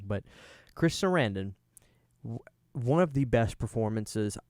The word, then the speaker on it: Sarandon: and and chris uh i always say his name wrong chris sarandon i used to say saranson and i think people